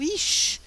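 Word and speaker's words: אִישׁ: que poderíamos acrescentar o ish, porque o ish é o homem como indivíduo mesmo. O ish, olha aqui aquele aleph que não tem som em si mesmo, não é verdade?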